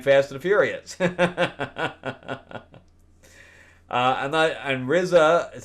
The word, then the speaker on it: RZA: And RZA, is how you say his name, RZA, RZA.